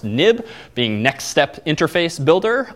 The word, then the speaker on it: XIB: have what's called a nib file even though it's xib it's historically pronounced nib being next step interface